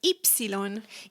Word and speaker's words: ipsilon: Uh and then finally we have ipsilon.